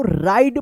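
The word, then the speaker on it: ride: राइड पढ़ेंगे।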